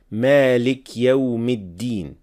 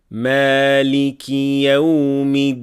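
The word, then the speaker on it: مالك يوم الدين: without realizing and say Malik Yawmiddin. Again, this is a major mistake. Kasra has to be pronounced clearly. So we would say Maliki Yawmiddin.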